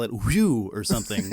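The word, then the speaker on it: Whew!: And unless you're doing like a promo on Buzzr and then you call it whew or something, it's like it's literally the guy literally just said we pronounce it whew, and then you're gonna go next up on woo.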